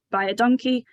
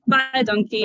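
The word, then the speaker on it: baie dankie: met taught us that if you say buy a donkey um if it's written phonetically it sounds like you're saying thanks a lot in Afrikaans so bye donkey and thank you very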